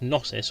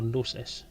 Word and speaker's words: Gnosis: Now, as you probably know, we were on the Gnosis, or the Gnosis. The Gnosis. It's about 15 different ways of saying it. I know the G is silent, so it's Gnosis or Gnosis.